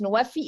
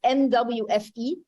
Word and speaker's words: NWFE: And that's why in our example, and the way to pronounce NWFI, it's NWFE.